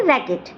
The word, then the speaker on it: racquet: बस दो मात्र ऐसे वर्ड्स हैं जहां पर क्यू साइलेंट होता है, तो वो वर्ड्स देख लेते हैं जल्दी से। तो उसका पहला वर्ड है RACQUET, क्यों? रैकेट नहीं है ये है रैकेट।